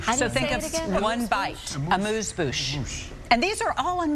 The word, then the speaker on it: amuse-bouche: Amuse-bouche.